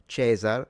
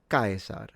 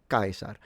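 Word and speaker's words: Caesar: V's sound like W's the C's are always hard so you wouldn't say chzar that would be the ecclesiastical pronunciation too late for someone in ancient Rome but it would sound like kaisar kaisar so yeah the consonants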